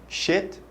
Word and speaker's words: shit: pas comme un i qui se prononce un petit peu plus doux qui se prononce e on va dire et les deux e